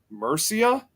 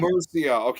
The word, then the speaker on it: Mercia: There's a part of the country where it says Mercia. Yeah. Mercy. It almost like it's spelled.